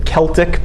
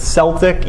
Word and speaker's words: Celtic: When we say Celts, that's spelled Celtic, the Celtic people. Some people pronounce it Celtic. Either way is correct. Either way is right.